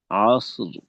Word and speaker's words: عصر: ওয়াল আসর আচ্ছা, আইনের উচ্চারণটা কি কিন্তু একটা হামজার মতো হয়ে যাচ্ছে। আ আ ওয়াল আসর, আ আসর।